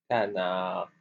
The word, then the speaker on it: canard: ça fait ga na et le D on le prononce pas à la fin. On voit tout le mot maintenant. Canard canard c'est comme ça.